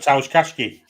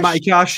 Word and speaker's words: Matty Cash: it's um about mat kashki where where's he he's not in the squad not in Squad said it wrong Mat Matty cash he's injured he didn't